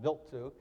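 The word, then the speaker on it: Wild 2: the comet built to spelled wild too it's pronounced built to this launched on a delta rocket and it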